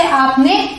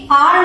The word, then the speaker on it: are: अब अगला देखते हैं ARE, इसे हम प्रोनाउंस करते हैं आ या फिर आर। फर्क क्या है? वही ब्रिटिश और अमेरिकन का। यूजुअली ब्रिटिश इंग्लिश में र प्रोनाउंस नहीं किया जाता, तो यहाँ पे आर नहीं बोलेंगे, यहाँ पे आर साइलेंट होगा और आ को थोड़ा खींच के बोलेंगे, आ, ठीक है। और वही अमेरिकन इंग्लिश में र प्रॉपर्ली प्रोनाउंस किया जाता है तो क्या बोलेंगे? आर, ठीक है।